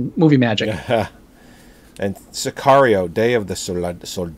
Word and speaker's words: Sicario: this past weekend watched now it's Sicario or Cesario it Sicario Sicario i've been pronouncing it wrong um I finally got on